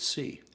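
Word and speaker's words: Xi: he's not uh well my mandarin tutor pronounced it c oh really yeah i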